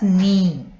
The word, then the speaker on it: knee: We say this as knee. Say K is not pronounced.